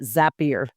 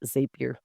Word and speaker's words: Zapier: I pronounce it Zapier, not Zapier. I'd have to look.